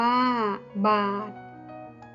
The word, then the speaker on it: บาท: อ่าน ว่า อำนาจ บาท อ่าน ว่า บาท ชาติ อ่าน ว่า